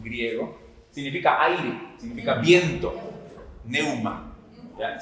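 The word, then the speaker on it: pneuma: Neuma. ¿Ya? Sí, con P al inicio. Neuma. No se pronuncia la P.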